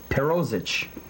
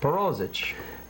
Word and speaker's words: Perozich: Perozich. That's how you say it. Perozich.